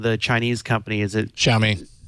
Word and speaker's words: Xiaomi: I can't remember I'm not going to to pronounce the name of the Chinese company is it xiaomi xiaomi thank you but you know their strategy I